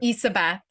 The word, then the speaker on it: Ysabeth: Ysabeth. It's so my Ysabeth. my Okay. name is spelled Ysabeth, but you can imagine the Y is like an E.